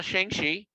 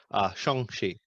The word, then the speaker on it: Shang-Chi: Saw Shang-Chi. Shang-Chi. Sure. I found out how to properly pronounce it.